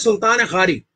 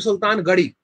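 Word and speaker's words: Sultan Ghari: the tomb of nasiruddin the correct name is sultan khari you have to pronounce it from the epic lotus which is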